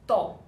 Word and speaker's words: to: you use this verb this pronoun pronounced toe like in English that or this this is